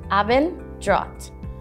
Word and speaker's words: Abendrot: e n d r o t avenger is pronounced aben drat abendrad means the color of the sky while